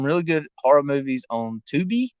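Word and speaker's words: Tubi: good horror movies on 2b i believe it's how you pronounce it t-u-b-i so y'all need to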